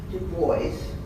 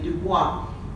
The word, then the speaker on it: Du Bois: Du Bois, and I'm not mispronouncing it out of ignorance, but because that was his preference. Instead of, it's the French name Dubois, but he pronounced it Du Bois, so I will follow his lead.